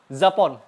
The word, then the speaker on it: Japon: Nah, huruf J dibaca agak berdesis. Mirip huruf Z di bahasa Indonesia. Oke? Huruf J dibacanya agak berdesis. Mirip huruf Z. Paham? Contohnya, Japon.